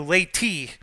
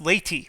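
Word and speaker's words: Leyte: I am pronouncing it it does sound like the word lady um and of course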